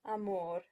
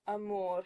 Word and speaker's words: amor: with schwas, cosa and amor. English speakers will tend to say cosa instead of cosa and amor instead of amor.